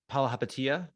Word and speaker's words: Palihapitiya: And I know you want to focus more on the Warriors response to, and I can't even pronounce the GM, the owner's name, the co-owner's name. Palihapitiya.